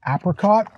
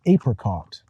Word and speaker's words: apricot: And in the United States, we have two ways to say apricot. I say it like Bob the Canadian, but if you go to the southern part of the United States, you might hear apricot.